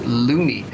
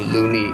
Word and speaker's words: Looney: Thomas Looney. Actually, you pronounce Loney, which make people laugh because Looney means crazy, orang gila.